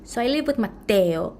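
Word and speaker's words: Matteo: say your name so I'm going to say it right just to be respectful because it's Italian and it's with Double T Mateo and Jack and I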